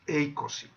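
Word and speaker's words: εἴκοσι: Vamos con el número 20, que es eikosi. En caso de 20, cuando lo vamos a poner como prefijo en español, se va a pronunciar y escribir como ico, eikosi, ico.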